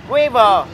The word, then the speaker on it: Weaver: Ai thích đọc là Weaver, Weaver, và tiếng Anh chuẩn là Weaver.